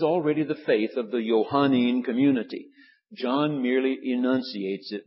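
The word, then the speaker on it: Johannine: And so if you add the little suffix on the end of it, Johannin is the way it's pronounced.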